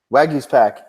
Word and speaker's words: Waguespack: Wong his tackle company how do you say Waguespack like his pack yeah the guy he's you